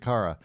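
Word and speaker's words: Kara: Since Cara or Cara? Hey, that's up to you. Spell it. K A R A. I'd say Cara. That's Cara. Cara. Yeah. No, it's Carara. Tim, obviously you don't watch Supergirl. It's Cara. Cara. It's Kryptonian.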